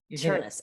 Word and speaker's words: Chernis: Chernis rhymes with furnace. Chernis.